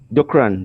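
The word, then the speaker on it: Dookran: Dukran, DOOKRN, Dukran.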